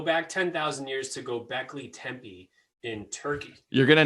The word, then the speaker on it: Tepe: There's no M. It's not Tempe like temple. It's Tepe.